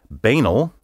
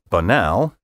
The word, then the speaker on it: banal: down to is that there are three acceptable pronunciations for this word banal banal and banal as the American Heritage Dictionary puts it speakers can perhaps take comfort in knowing that any one of these pronunciations will have the support of a substantial minority and that none of them is incorrect on the other hand